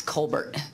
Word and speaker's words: Colbert: It's actually the Texas pronunciation is Colbert, for the record.